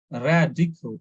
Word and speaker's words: radical: Then, when an adjective ends in ICAL, stress the syllable before the ICAL ending. So in this case, you see this this word political. So it is ending with ICAL. So the syllable before ICAL, we need to stress on that syllable.